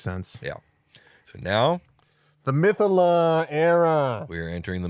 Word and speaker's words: mythallar: So now The mythallar era. we are entering the mythallar era.